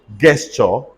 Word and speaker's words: gesture: Sometimes you have G, but it's pronounced, sorry, ga, and it's pronounced G. Look at this. GESTURE is not gesture, it's called gesture.